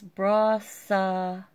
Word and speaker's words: Brassavola: It's Brassavola. I guess you have to emphasize the sa.